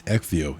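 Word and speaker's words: Ecgtheow: It's No, it's it's Exio.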